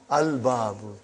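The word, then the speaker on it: الْبَابُ: Is it moon letter or sun letter? Moon letter. You did pronounce lam. Al-babu.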